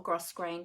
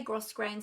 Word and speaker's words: grosgrain: heather grosgrain ribbon or gross grain depending on how you pronounce it some people say gross grain some people don't pronounce the s and they say grow green but this is really